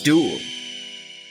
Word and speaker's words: duel: Dangerous duel. Time for us to duel. Wrong duel. You mean duel. That's what I said. No, you pronounced it with a UA sound instead of a OO sound.